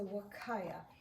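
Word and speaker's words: huacaya: other breed is the wakaya and that's spelled Hua c a y a but the Spanish people pronounce that H like a w so all of the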